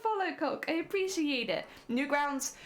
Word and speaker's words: Newgrounds: Newgrounds, which by the way I will probably mispronounce because I've called it Newsgrounds for the longest time. Well, I don't know why. But like I when I read it initially, I read it as Newsgrounds, and so I still